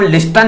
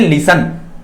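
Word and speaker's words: listen: Silent है और इधर लिसन में टी साइलेंट है। इसमें हम लिस्टन नहीं बोलते, इसको क्या बोलते हैं, लिसन। हमने टी तो बोला ही नहीं।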